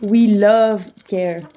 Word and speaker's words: Wheel of Care: Donc ça s'écrit Wheel of Care, donc la roue du soin, mais ça se prononce We Love Care.